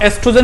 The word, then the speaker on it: एस्ट्रोजन: ओ silent है तो इसे आप एस्ट्रोजन ही बोलना, काफी बुक इसे खाली